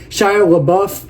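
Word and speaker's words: LaBeouf: I don't think I said his name right sh lauff that's how you say his name I got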